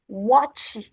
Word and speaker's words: watch: Donc, lorsque vous voyez CH en anglais, c'est ch. Donc, CH, c'est ch. Watch, watch, cheek, ch, ch. Donc, évitez de prononcer cela avec sh.